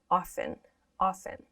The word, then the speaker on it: often: when we pronounce this, at least in American English, we don't pronounce this T. We don't say often, often. We usually pronounce it as often, often.